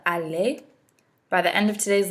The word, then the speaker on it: aller: want to remember what the pronunciation in French the ER at the end of the word makes it sound more like a why a it's not alert it's a delay this is an irregular